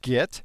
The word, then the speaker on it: Git: we're talking 15 years already as you can hear from the beginning of this course git is pronounced get with a heart J which is a British